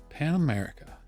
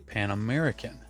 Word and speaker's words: Pan American: I always pick them up for them when I do see them, and so there they are, Pan America. I actually pronounced that wrong. It's actually Pan American.